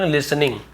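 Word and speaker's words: listening: हुए तो यहां पे यहां पर टी सेलेंट है लिनिंग बोल लिसनिंग टी सलेट लेटर है ठीक है पहले इसका यूज होता था पहले इसे उच्चारण किया जाता था बाद में लोप होता गया लिसनिंग बोलने लगे लेकिन लिखना नहीं छोड़े इसलिए हमें लिखना पड़ता है सार लेटर का रूल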